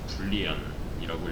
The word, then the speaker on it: boolean: 논리연산을 담을 그릇은 불리안이라고 읽습니다. 얘는 불린 타입이어야 돼요.